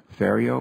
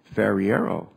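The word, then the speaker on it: Ferriero: about this I say are you sure he pronounced his name fio but when I look at it it should be Fiero Fiero but that's the way what I I would pronounce it but uh why is it pronounced uh fio I sure that it's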